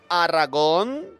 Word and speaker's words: Aragón: Capitaneada por Colón al servicio de los reyes católicos, Isabel y Fernando de Castilla y Aragón, acento en la O, que partió el 3 de agosto de 1492.